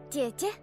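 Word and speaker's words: 姐姐: Jie-jie.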